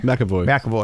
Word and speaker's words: McAvoy: How do you pronounce his name? McAvoy? McAvoy.